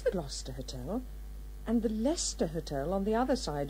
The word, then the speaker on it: Leicester: it there was the lost data and the Leicester hotel on the other side of the square which you write to well I must confess I think it was the Leicester darling you really are hopeless I'm sorry these